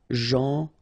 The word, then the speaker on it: gentil: So it's a strange one because here this final L is not pronounced. Okay? Gentil.